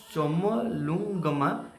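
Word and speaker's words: Chomolungma: तार कलियुंगमा सॉरी मोर होनी pronunciation चमलुंगमा is located in which country?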